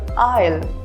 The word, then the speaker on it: isle: The letter S is silent when it comes before the letter L in a word. For example, island or isle.